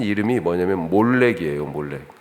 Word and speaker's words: 몰렉: 비슷하죠 예 미음 리을 히브리 단어는 자음으로만 써 있고 모음이 없어요 그러니까 미음 리을로 원래 돼 있는 건데 그 사람들이 읽을 때 말이라고지 읽기도 하고 멜렉이라고 읽기도 하고 예 몰렉이라고도 읽을 수 있다라고 하는 것입니다 또 밀곰이라고도